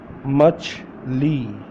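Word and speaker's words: مچھلی: able to know and you will able to pronounce fish in Urdu. Okay, so let's get started. चलें शुरू करते हैं। Fish, मछली, मछली, MACHHLI, मछली, मछली, छी मछली।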